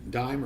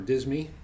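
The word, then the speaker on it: disme: this is 179 92 dime or dismi or deem depending on how you want to pronounce it I think they probably pronounced it dime back then but but I don't know um this had been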